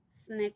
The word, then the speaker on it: SNCC: nonviolent coordinating committee or sncc pronounced snick for short snake came